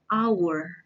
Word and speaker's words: hour: Kita pronounce kata jam di sini itu hour. Itu hour. dia itu diawali huruf vokal.